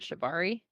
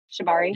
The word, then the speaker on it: Shibari: thing uh I think is that how you pronounced it shabari Shibari yeah yeah that's like rope and stuff like